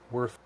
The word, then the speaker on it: Werther: Spelled Werther, Werther, but it's pronounced Werther.